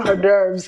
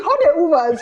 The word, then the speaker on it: hors d'oeuvres: And it's read hors d'oeuvres. It's a French word.